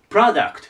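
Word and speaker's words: product: 番行きましょうでこれよくある発音で Pro ってプロて読みたくなるんですよだけどこれプラになりますラプロダクトと言いますプロダクトアクセントここね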